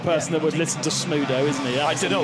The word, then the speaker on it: Smudo: How did you How did you um pronounce that rapper's name? Smoo. Smudo.